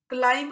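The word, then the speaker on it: climb: मैं एक बच्चा था अब आप क्लाइंब कहते हैं ऊपर चढ़ना तो आप लाइन पर गौर करें हम इसमें बीज बो है उसकी साउंड नहीं निकालते तो बी इज the silent word letter और फिर मरियम हांडा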